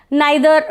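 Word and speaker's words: neither: Pronunciation आइदर और भी हो सकता है, नाइदर नॉर भी हो सकता है, और ईदर और नीदर नॉर भी हो सकता है।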